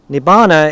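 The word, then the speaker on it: Nibbāna: of all biological beings nibana is the word it's our pronunciation of nirvana and so to be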